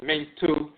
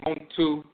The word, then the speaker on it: Montu: symbol and the T, sometimes mate, sometimes Mentu, pronounced later Montu, dialectical variant.